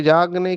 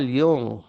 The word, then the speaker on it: युंग: कुमारीज, ये नींद से जागने की बात है। देखो एक कोट है कार्ल युंग, जिसे भारतवासी कार्ल जंग कहते हैं। वो जंग नहीं है, उसका प्रोनाउंसिएशन, उच्चार युंग है, पर ठीक है, भारत में सब चलता है।